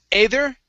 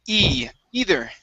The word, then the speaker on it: either: right good um here instead of either it's e either either good and last word